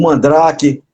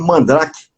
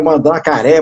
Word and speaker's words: Mandrake: Mandrake, eu não sabia pronunciar aquele nome Mandrake, que tinha aquele K no meio, eu não sabia qual era o som de K, eu chamava era Mandracaré, mas não, inventava lá os nomes aí.